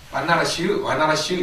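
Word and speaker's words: Varanasi: 예, 바나라시인데 인도식 발음으로는 V를 와라고 발음합니다. 한 예로 여러분들 옛날에 빗바사라라고 그랬죠? 근데 요즘은 입바사라라고 합니다. V를 전부 다 이제 와 발음으로 합니다.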